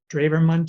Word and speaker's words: Drewermann: on this channel the druverman channel dravermont channel that's how his name is pronounced in german if you subscribe to